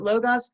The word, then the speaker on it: Logos: We pronounce it Logos, but a lot of people say Logos?